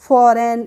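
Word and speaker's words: foreign: एशन नहीं किया है अब है हमारा फॉरेन एफ ओ आर ई आई जी एन तो फॉरेन में हम जी को पढ़ते हैं नहीं पढ़ते हैं फॉरेन नहीं पढ़ते हैं हम इसको पढ़ते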